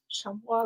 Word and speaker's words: chamois: How do you pronounce that one? Chamois leather. Chamois leather?